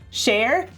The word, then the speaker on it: Cher: pronouncing it wrong and i know that sher pronounces her name cher but she's also wrong it still works it